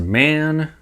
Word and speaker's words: Maen: And I've heard this brand pronounced man, so I'm going with that.